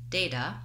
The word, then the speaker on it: data: is we don't make a clear aspirated T sound t in this word.